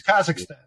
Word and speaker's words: Kazakhstan: Yeah, but it's Kazakhstan.